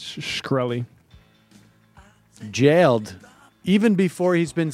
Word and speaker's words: Shkreli: I think it's Shkreli.